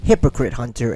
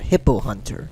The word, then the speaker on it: Hypocrite Hunter: I believe my name is Hypocrite Hunter and not Hippo Hunter.